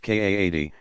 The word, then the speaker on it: qadi: Acting upon the advisory, the parties to the case might then choose to bring the matter before a religious judge called a qadi, pronounced Kaadi, himself authorized as a mufti, to adjudicate the matter.